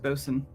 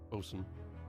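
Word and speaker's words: boatswain: can't hear anything also I know it looks like Bain but it's actually pronounced bosen bosen yeah uh that's that's that's just on me Bo Swan B swan it's because it's like one of those really like sailing words are like a lot of really old words that ended up being pronounced differently just over time even though they get spelled the same way all right so transitioning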